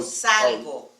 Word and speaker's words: salgo: Yo salgo. Salgo. It's Salgo. a hard G. It's G-O.